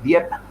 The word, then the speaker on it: Dieppe: tristemente célebre en francia que es dieta se escribe dieppe donde jugó el famoso